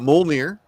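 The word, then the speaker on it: Mjölnir: stormbreaker is in the mcu but you've got molnir you know in in the uh proper pronunciation right and then uh does everybody know about that axe yep yarnborn so you got stormbreaker yarnborn and mulmere how many brothers well they're very important to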